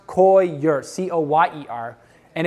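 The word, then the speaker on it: coir: roots yes Co ir it's pronounced koi your Co ye er and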